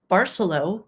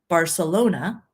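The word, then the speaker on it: Barceló: my sales rep that you say it Barcelo as in Barcelona but you know certainly for all of my life I assumed it was Barcelo okay just different pronunciation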